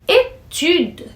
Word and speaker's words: étude: Étude, que puxa mais no u aí, étude, é para dizer estudo, estudos.